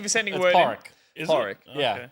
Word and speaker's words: Padraig: Porrick. Is Porrick. it? Yeah, Okay. but it's spelled Padraig.